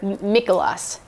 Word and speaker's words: Mikuláš: Nicholas Day, or Mikuláš in Czech. It's how it's pronounced.